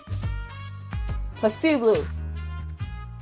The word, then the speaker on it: placebo: Placebo. The stress is on the middle. The stress is on the middle of sable.